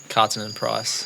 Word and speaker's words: Kaartinen-Price: Kaartinen-Price.